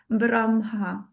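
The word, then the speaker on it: ब्रह्म: So they are very very um insisting that we pronounce correctly and the right way is braha.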